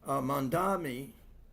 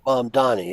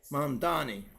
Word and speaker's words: Mamdani: Mandami, did I pronounce that correctly? Mom Donnie, yeah. Mamdani, right?